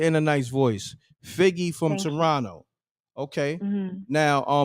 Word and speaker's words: Figgy: from Toronto. Got a nice voice. No, Figgy. Oh, Figgy. Like spell that. F-I-G-G-Y.